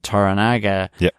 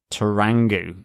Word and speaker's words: Toranaga: the other main characters in terms of Lord Yoshi Toranaga, I've also been pronouncing that as Tarangu.